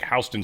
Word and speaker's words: Houston Street: I was on the subway and they were like Hston Street. And I'm like, "The dude just mispronounced Houston." What? How weird is that? And then he said it again. I'm like, "That's not mispronounced. That's That's how they pronounce it."